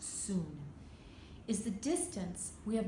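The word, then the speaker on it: cun: It's pronounced soon.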